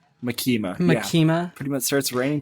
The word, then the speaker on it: Makima: Makima. Yeah. Pretty much starts ranting to Makima. Yeah, he goes to the office. So he's doing paperwork at the Devil Hunter's office. And then Makima's asking him, like, oh, how you're doing?